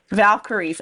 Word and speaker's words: Valkyries: little bit funny um Valkyries as in the as in the female Warrior character from the Thor movies yes um but you